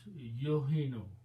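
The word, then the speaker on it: يهن: So that is, and then because it's a weak letter, we don't pronounce this alif and this alif. So it becomes yohino.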